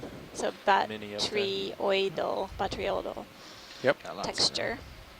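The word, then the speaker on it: botryoidal: batrioidal Yep. Got lots of texture. Great. Appreciate the pronunciation. Yes, Yeah. batrioidal.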